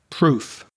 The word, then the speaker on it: proof: Now, you may notice the ending of those words may sound similar, but if you listen very carefully, they're not because the verbs to prove, to believe, to relieve, that final vv sound has vibration. It's voiced. Whereas the nouns proof, belief, relief, I'm exaggerating the f because it's only coming through my teeth.